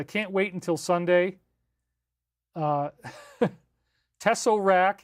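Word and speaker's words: tesseract: Uh, Tessorak. Yes, I pronounce it a little bit southern. It's Tessarak, but you know, I like to flatten my TE's.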